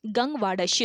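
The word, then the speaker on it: गंगवाड़स्यूं: अगला क्वेश्चन है, गंगवाड़श्यु, इसका सही प्रोनाउंसिएशन है गंगवाड़श्यु, इसको करेक्ट कर लीजिएगा।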